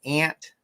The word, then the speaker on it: aunt: is aunt lisa says i say aunt but pronounce like ant and uh yeah well